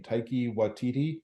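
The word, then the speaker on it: Taika Waititi: I think when I can never pronounce his name, Taiki Waititi, Oh yeah, it's like Kitty Wood.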